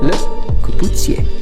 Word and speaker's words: Le Corbusier: So the writer, architect and designer of this chair, his name is pronounced Le Corbusier.